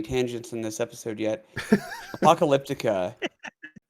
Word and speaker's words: Apocalyptica: Apocalyptica, I guess, is not really how they say it. I had heard an interview where they were talking, and they kept calling it Apocalyptica, what? and it completely changed the way that I looked at words and the sounds that things make. But yeah, they were like Apocalyptica, and I'm like, who the hell's that? You mean Apocalyptica? Sorry, you're saying it wrong.